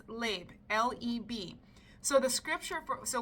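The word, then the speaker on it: לב: So the word for heart in this scripture is actually, I believe it says it's pronounced leb, L-E-B.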